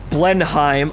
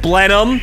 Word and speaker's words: Blenheim: I've learned from the Blenheim... Oh wait, no, Blenheim, right, Bowfighter, Blenheim, yes, please the artists in the audience. Thank you. More of my Americanized pronunciations corrected.